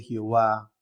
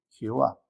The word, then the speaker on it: Jehová: divino y su pronunciación ellos introdujeron las vocales Adonai dentro del tetagam matón recuerde que son y H W le incorporan las vocales de adonay y for el nombre Jehová pese a todos lo